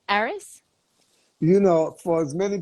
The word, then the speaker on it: Aris: to say it properly uh well I say ARIS correct yes yes okay well first of all